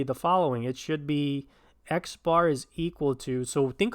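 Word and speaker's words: x̄: X bar, or X with a line over it, pronounced X bar, is the sample mean.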